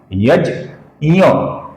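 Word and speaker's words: यज्ञः: आप सर्वप्रथम अपूर्ण ज का उच्चारण कीजिए। कीजिए दोस्तों। ज और फिर अपूर्ण य का उच्चारण कीजिए। यह कौन सा अक्षर है? च, छ, ज, झ और ञ। तो यह जो ञ अक्षर है, इसका उच्चारण हमें ज के बाद करना है।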